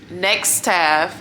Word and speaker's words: Nextaff: Snap Nurse, Staff DNA, Next Staff, NEXTAFF.